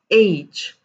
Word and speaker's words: H: listen to me carefully the letter h not h not h or i'm not quite sure how you actually are used to pronounce it but then the right pronunciation of this letter that you see over here is age and that's the correct pronunciation of it and there are a